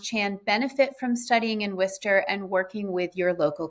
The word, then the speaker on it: Worcester: Uh so Yumaschan is located in Worcester for anyone not familiar with the city first of all that is how you pronounce it.